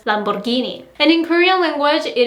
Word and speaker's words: Lamborghini: A lot of people might say Lamborghini or Lamborghini, but I've heard that the correct pronunciation in English is Lamborghini.